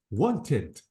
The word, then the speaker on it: wanted: with d notice want the verb ends with t I have to say want wanted chat this is T